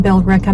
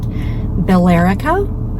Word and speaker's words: Billerica: Candle Company is in Billerica, Mass. Those of us not originally from New England may pronounce it Billerica.